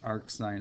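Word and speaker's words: arcsin: First thing to point out is that this green is pronounced arc sine x.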